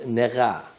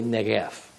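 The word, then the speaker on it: נגף: The first Negah, or more correctly, Negef.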